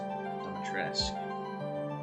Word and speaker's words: Dimitrescu: But yeah, I think her last name is pronounced Dimitrescu. It's like French or something, it sounds.